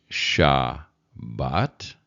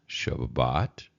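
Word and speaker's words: שַׁבָּת: time you can do this one is sha and thenat shaat sheet sheet and then shot and then Shabbat shabat that one you should recognize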